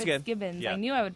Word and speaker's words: Fitzgibbons: I might pronounce her name wrong, but Sally Fitzgibbon, she's ready to go run. Sally Fitzgibbons. Did I say that? Sally it's okay. Fitzgibbons.